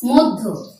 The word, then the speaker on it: মধ্য: যেমন শব্দটি দেয়া থাকলো মধ্য, ধ জফলা যদি থাকে প্রথমে উচ্চারণটি হবে দয়ের মতো। আমি এখানে লিখে দেখাচ্ছি, প্রথমে উচ্চারণটি হবে দয়ের মতো, তারপরে ধয়ের মতো। যেমন মধ্য, মধ্য তেমন করে হচ্ছে।